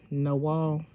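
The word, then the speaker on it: Nawal: Gene hey no girl how do you say your name n-a-w-a-l-10 no wall we had to come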